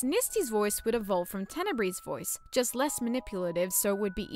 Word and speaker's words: Tenebrae: While Tenebrae's name comes from the Latin word for darkness, Tenebris, I decided to pronounce it as Tenebrae to make it sound a bit more fancy.